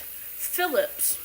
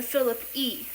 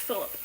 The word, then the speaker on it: Philippe: So in France it's actually pronounced Phillips but when you come to America English language screws it up and it turns to Phillip E but it's actually pronounced Phillip. So you can call me either Phillips or Philippe.